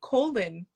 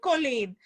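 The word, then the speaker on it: Colón: the funny thing is, my maiden name is Colin, which a lot of people would say Colin because it's spelled Okay. Coln. Uh-huh. And growing up, I would always say, they would always say Colin. And I'm like, no, it's Colin.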